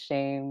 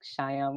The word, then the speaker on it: Shame: Okay, so hello, my name is Shame, and yes, it's pronounced Shame, not like Shyam or something, because I know quite a few people ask me how to pronounce my name, but anyway,